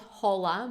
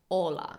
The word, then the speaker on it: hola: just a quick reminder we don't pronounce Ace this letter in Spanish so it's not hola but hola get in touch with